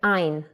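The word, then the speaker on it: עין: the sound of a originally in was pronounced glottally from the throat but in modern hebrew it is rare to find speakers who are still pronouncing it in that way so now basically it is another ah sound to the list and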